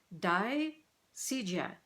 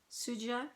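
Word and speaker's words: Dai Sijie: Chinese Seamstress by, okay, I got my pronunciation written down here, Dai Sijia. I'm going to show you. See the author's name there? Dai Sijia. Suja, I've heard Suja as well.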